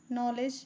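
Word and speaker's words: knowledge: नॉलेज जहां पे के साइलेंट है।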